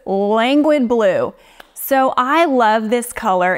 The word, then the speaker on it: Languid Blue: And I actually realized I was pronouncing this the wrong way the majority of the times I used it until somebody corrected me. So it's Languid Blue.